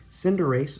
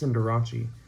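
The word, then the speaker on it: Cinderace: is nice and then Cinder race or some pronounce it's cinderachi a love send races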